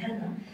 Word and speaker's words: Hana: D'abord pour le nom Anna, on prononce en japonais Hana.